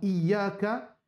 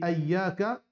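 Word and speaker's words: إياك: Différence entre Iyyaka et Ayyaka. Iyyaka veut dire c'est toi. Par contre, Ayyaka, c'est l'odeur soleil. Ayyak, c'est-à-dire l'odeur.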